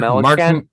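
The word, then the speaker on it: Melancon: Mark, how do you pronounce his last name? Mark Melanson.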